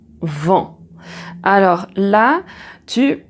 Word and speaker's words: vent: Alors donc pour prononcer le son en alors je vais regarder ici le petit schéma et je te le montre ici le son en dans vent.